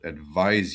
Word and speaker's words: advise: The first one, advice, and the other one, advise, Z That sound.